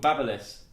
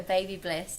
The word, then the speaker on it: Babyliss: No, it's called Babyliss. Oh, Have you always called it Baby Bliss? always called it a Baby Bliss.